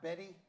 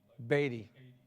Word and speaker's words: Beatty: your last name's pronounced Betty. No, it's pronounced Beatty.